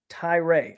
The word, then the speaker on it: Tyre: It's pronounced Tyre. Okay, so Tyre.